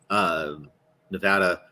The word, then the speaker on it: Nevada: I mean, I always try and bite my tongue whenever I hear somebody pronounce Nevada, Nevada, or was it Nevada? I'm like, no, stop saying that. It's Nevada, just Nevada. No, it's Nevada.